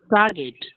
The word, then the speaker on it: target: Target. Yes, it is target, because people have a tendency to use G as ja.